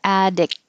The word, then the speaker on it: addict: i'm not going to make a addict but hold it there addict and then your tongue holds the tea addict that's it thank